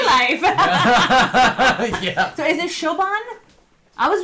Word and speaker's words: Siobhan: So is it Shoban? I was reading that as Sayoban. Kind of like the Lord of the Rings guy. Siobhan. Shoban. Okay.